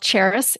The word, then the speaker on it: Charis: but it's basically it you pronounce and spell it just like the city Paris but with a ch ch a r i so cheris your life